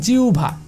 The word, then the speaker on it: জিহ্বা: যেমন দেখেন জিহ্বা, এটাকে অনেকে উচ্চারণ করে জিহ্বা, কিন্তু দেখেন এখানে জিহ্বা হবে না, কারণ হ এবং ব যুক্ত বর্ণ হিসাবে রয়েছে, যুক্ত বর্ণ হিসাবে থাকলে এই হয়ের জন্য কী হবে আমার ও অথবা উ, তো আমি নেব উ অর্থাৎ জিউ, জিউ, এবং এই বয়ের জন্য আমি নেব ভা, এই বয়ের জন্য আমরা কী নেব ভ, বয়ের জন্য আমরা নেব ভ, এবং আকার তো আছে, তো আমাদের উচ্চারণটা আছে জিউভা।